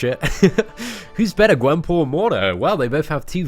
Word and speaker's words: Mordo: It's Mordo, I believe. Mordo. Baron Mordo. I think I initially pronounced him Mordu, but I'm pretty sure it's Mordo.